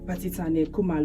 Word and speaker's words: Basetsana Kumalo: Basetsana Kumalo. I hope I'm pronouncing your name right, by the way.